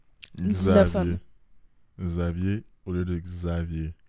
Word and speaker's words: Xavier: Un exemple, Xavier. Je vais plus le prononcer comme un Z. Xavier.